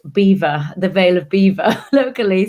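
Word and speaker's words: Belvoir: know my current role it means beautiful view in french but it's actually pronounced beaver the veil of beaver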